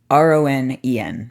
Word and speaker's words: Ronen: Now, Ronen is spelled with an E. Ronen. A lot of people jump immediately to the, Japanese Ronin, samurai without a master.